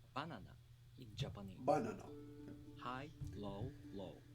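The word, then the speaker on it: バナナ: example banana is pronounced banana in japanese high low low hmm the accent is on the first syllable the pitch drops right after the accented syllable banana no banana different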